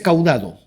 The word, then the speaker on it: caudado: núcleo caudado núcleo caudado en castellano se dice caudado Okay núcleo caudado cauda